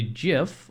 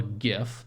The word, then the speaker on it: GIF: 2330 if you are stuck refer to the GIF or GIF depending on your pronunciation preferences below please note that the day